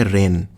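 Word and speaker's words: reign: मतलब हमारा है वह रैन और यही GN रे यहां पर जी साइलेंट होता है जी का उच्चारण नहीं करते हैं तो रहेंगे क्या मतलब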